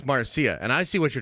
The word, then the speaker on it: Marcia: Lucas exwife name again Marcia it's spelled funny but it's Marcia and I see what